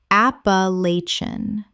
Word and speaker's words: Appalachian: Sa-ha-ra Sahara Word 116: Appalachian Common mispronunciation: A-pa-la-chi-an Correct pronunciation: A-pa-lach-an Five syllables with the stress on the third and the ending collapses.